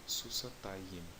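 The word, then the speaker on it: סוסתיים: Vou escrever um pouco fora da cena aqui, susatayim. Tá bom? De novo, o acento está na penúltima sílaba.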